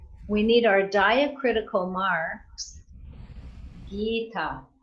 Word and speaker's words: Gita: So we need our diacritical marks, Gita. So it's a long I and a long A.